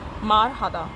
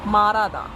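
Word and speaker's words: 말하다: जैसे कि आप ये वर्ड देख सकते हैं, ये है माँ, मार, हादा, मार हादा। इसको हम मार हादा नहीं बोलेंगे, हम बोलेंगे मारादा, मारादा, मारादा।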